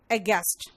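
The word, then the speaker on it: aghast: लेकिन यहां पे GHAST है, लेकिन इसका जो उच्चारण है वो गैस्ट हो रहा है, यानी फ्लैबरगास्ट, अगेस्ट, है ना।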